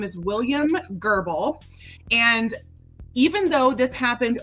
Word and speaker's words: Goebel: struggling a bit so William gerbal is spelled g OE b l it's a and because it's a German name I am saying gerbal because I believe that is